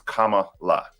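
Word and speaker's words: Kamala: who are watching who um her name is Kama LA right it's it's quite simple but there are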